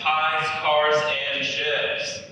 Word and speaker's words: Piekarczyk: heard of me or struggled to pronounce my last name it's pies cars and ships uh these are the